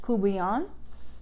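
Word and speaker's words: courtbouillon: of the dish, and I am attempting to use a Creole version of the pronunciation.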